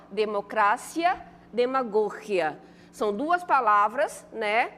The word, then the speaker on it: democracia: Aqui, ó, democracia, demagogia. São duas palavras, né, que quando a gente pronuncia na língua portuguesa, como é que elas ficam? Democracia, demagogia. E em espanhol, como é que ficaria?